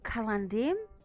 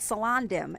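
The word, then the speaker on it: Celondim: to Cullen dim and yes that really is how it's pronounced I know you know what for years I call it salon dim and seriously that's not how it's pronounced I didn't learn that until much later though until I started studying elvish and then I found out that they always pronounce their C's like cake so I just readjust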